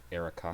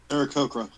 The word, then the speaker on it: Aarakocra: Arakaka? Yeah, Arakaka. Aarakocra.